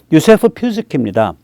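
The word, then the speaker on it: Józef Piłsudski: 그때 이제 폴란드란 나라가 18세기 후반에 없어졌다가 한 150년 만에 그때 만들어진 건데 그때 폴란드의 지도자는 유세프 피스키입니다. 이게 이제 피스키라고 읽어요.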